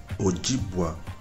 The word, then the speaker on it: Ojibwa: It is proper at this instance to note that the word Ojibwa is pronounced with GBW, a one-syllable sound.